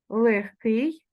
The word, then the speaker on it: легкий: пишемо з буквою г тільки далі вимовляємо ми легкий перевіряємо легенький і пишемо з буквою г легкий далі ми вимовляємо борідка